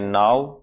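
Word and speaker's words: know: से शुरू होती है लिखते के एन डब्लू और पढ़ते हैं नाउ कारण यह है कि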